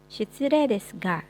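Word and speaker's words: 失礼ですが: Shitsurei desu ga, sekalipun ditulisnya shitsurei desu ga, tapi dibacanya shitsurei desu ga. Tadi ingat-ingat kalau huruf E ketemu sama I, nggak dibaca huruf I-nya ya, tapi dijadikan penambahan panjang pada huruf E.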